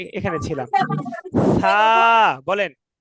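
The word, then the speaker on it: ثاء: সা। বলেন। সা। সা। সা তা জিহ্বার আগায় হালকা একটু কামড় দিয়ে পড়তে হবে, হ্যাঁ, তাহলে নরম হবে।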